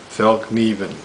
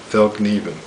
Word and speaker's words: Fallkniven: It's pronounced Fallkniven, even though the word K-N-I-V-E is in there. It's Swedish for a folding knife. Fallkniven.